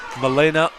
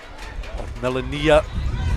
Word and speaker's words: Melania: Sliding in there was Milena, and or Melania is the correct pronunciation of the left winger there.